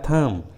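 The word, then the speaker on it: thumb: उसी तरह थम, टॉम, बॉम, लीम, देखिए सभी इंग्लिश वर्ड्स में लास्ट में बी है और उस लास्ट वाले बी के जस्ट पहले एम है, इसलिए सभी इंग्लिश वर्ड्स में बी साइलेंट है, बी को उच्चारण नहीं किया गया है।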